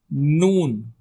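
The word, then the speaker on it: ن: Mother next alphabet is noon. Noon. It sounds like you say 12 noon.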